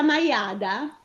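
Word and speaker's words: maiàda: e mi spiega perché, nonostante si tratti di una parola piana, c'è l'accento sulla A? Allora, sì, è una piana, maiada.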